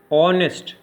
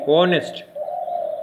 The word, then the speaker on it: honest: Honest. We are pronouncing from O to T. Honest. Honest politician. So H is not being pronounced here.